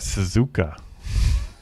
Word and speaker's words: Suzuka: Torque is back this Thursday at Suzuka. I'm so proud of you. You finally said it right.